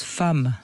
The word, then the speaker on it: femme: Bon en tout cas euh bah c'est compliqué parce que femme ça s'écrit avec un e alors qu'on prononce femme.